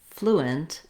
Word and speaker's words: fluent: In this video, we'll look at how to pronounce fluent and fluid. These words are similar. Both words have the stress on the first syllable, and they start with the flu sound.